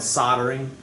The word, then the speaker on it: soldering: soldering soldering it's called soldering the l is silent really yeah so you